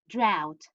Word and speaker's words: drought: You're right, but it's pronounced like that. Drought, drought, drought.